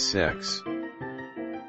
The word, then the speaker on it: CEX: Unprotected CEX at a used electronics/games retailer whose name is pronounced as sex.